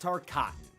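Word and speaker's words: Tarkatan: cotton on her side and yes it's pronounced tar cotton I got it wrong in the last video and honestly it feels like Baraka called me out personally it's t c to be fair though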